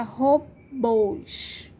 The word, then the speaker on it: robôs: Agora, a palavra robôs. A sílaba mais forte é bôs, né? E como é aberto, não é aberto, é fechado, né? Robôs. Então, o som é fechado. É o acento circunflexo, tá?